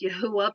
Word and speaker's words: Yahuwah: not pronounced Yahweh. It is pronounced Yahuwah, but it's actually a combination of three words.